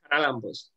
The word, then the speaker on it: Charalambos: Charalambos for being with us. Oh, sorry. How do you say it? It's Charalambos.